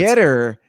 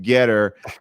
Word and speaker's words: Gettr: I don't know how to pronounce it. It's Gettr. I assume that's Getter.